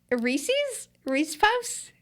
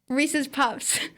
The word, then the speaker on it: Reese's Puffs: So Reese Puffs? Reese's Puffs. Okay, so I got down the pronunciation for that.